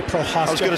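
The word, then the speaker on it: Prochazka: I've been waiting to say Prohaska. I was going to say, not to screw it up. That was perfect pronunciation.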